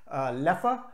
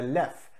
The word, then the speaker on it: Leffe: are two correct pronunciations Leppa which follows the Dutch pronunciation which is very very closely related to German and left which is the French pronunciation quick little history on